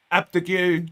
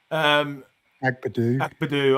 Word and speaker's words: Agbadou: Morello, Abdagu. Did I actually say it right? Agbadou.